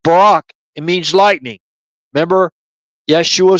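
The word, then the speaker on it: ברק: Barak in Hebrew, Baraq, it's pronounced Barak.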